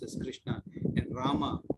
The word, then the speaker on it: Rama: The word Hare pronounced as Hare, Krishna pronounced as Krishna, and Rama rhymes with Dharma are Sanskrit words.